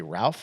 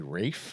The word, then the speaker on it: Ralph: Do you say Ralph or do you say Rafe? I've heard different things. I mean, if it's R A L P H, I'm going Ralph.